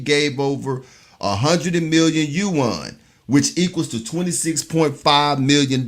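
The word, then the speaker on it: yuan: in digital you won did I pronounce that right I owe you won yeah right right you won and bid to boost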